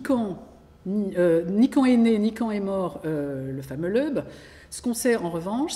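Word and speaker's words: Loeb: Alors, je ne sais jamais si on prononce l'Eub ou l'Eb, L-O-E-B.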